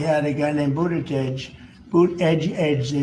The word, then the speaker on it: Buttigieg: Boot edge edge, they say is the best way.